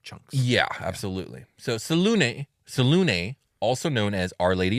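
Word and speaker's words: Selûne: doesn't help but anyways I'm going with salune cuz I think that is the most common pronunciation but I want it to be known that up until this point I've always just called her Saloon I prefer just Saloon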